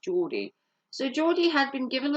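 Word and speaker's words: Jordi: given Joe or Jordy j-o-r-d-i I think it's pronounced Geordie so Geordie had been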